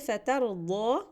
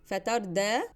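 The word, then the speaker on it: فترضى: The word فَتَرْضَى with a ضاد means you will be pleased. If you read it wrong with a da, fatarda, that means you will fall.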